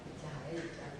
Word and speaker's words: cahaja: semuauk Sini Kaget I cahaya cahaja Bacanya apa cahaja cahaya kalau artinya cahaya kalau dibaca ej lama kan cahaya cahaya baru B Oke